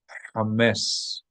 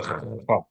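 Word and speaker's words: chametz: In the meantime, it's better to pronounce it like an H, knowing that it's not exact, than to pronounce it as a kha. Kha is very far from it.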